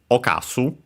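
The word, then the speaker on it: 冒す: Uh there are more than one, but the one used nowadays is okasu. uh should be accented.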